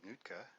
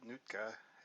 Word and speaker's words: Nuitka: Heard him say Nuitka is the way to pronounce that on a video, so I'm assuming I'm pronouncing it right.